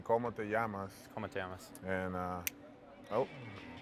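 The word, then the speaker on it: cómo te llamas: Como te amos? Oh. Did I say that wrong? Yeah, you did. It's actually como te llamas.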